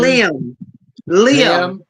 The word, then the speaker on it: Liam: Liam. It's like Oh, from all right. Irish, from like Ireland. Liam, Yeah. like Liam, like the actor Liam Neeson.